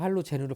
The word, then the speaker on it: 할로젠: 선생님이 자꾸 할로겐이라는 이유가 뭐냐면 선생님 고등학교 때는 할로겐이라고 배웠거든. 근데 언제부턴가 할로젠으로 바뀌었어. 그래서 여기 철자 나오죠. 할로겐. 옛날엔 그대로 읽었고 요즘은 할로젠이라고 읽습니다.